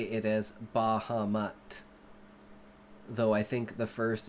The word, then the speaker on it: Bahamut: In context, Bahamut to me is actually a Japanese word because it comes from Final Fantasy.